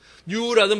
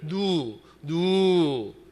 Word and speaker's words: New: 뉴라는 발음이 잘 안 돼가지고 늘 누 비전 라이프 비전 교회 이렇게만 자꾸 누 그런단 말이에요. 기도만 하고 내려오면 교인들이 집사님 누가 뭐냐고 뉴라고 해보라고 뉴 안 된단 말이에요.